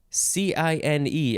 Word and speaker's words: cine: have the word cine c-i-n-e i mean it looks like the word sign but no it's cine noun from 1920 we